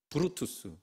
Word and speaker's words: 브루투스: 블루투스가 아니고 브루투스.